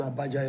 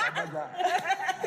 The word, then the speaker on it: Abuja: Especially, apart from the bluntness, like pronunciations and stuff, she wants to say I went to Abuja yesterday. And she says, I went to Abuja yesterday. It's Abuja.